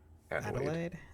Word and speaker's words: Adelaide: Adelaide.